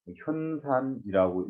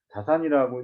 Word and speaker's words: 자산: 여기에서 잠깐 말씀을 드리자면 이 자산을 현산이라고 읽어야 된다. 이런 그 주장도 있지만 자산이라고 읽어야 된다라고 하는 설에서 근거로 삼는 그 논거가 여기에 있는 거죠.